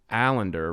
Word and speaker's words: Allinder: me i have allender rhymes with calendar founder and ceo of